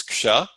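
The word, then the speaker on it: क्ष: The K and S with the dot under it is Ksha, just as you might expect.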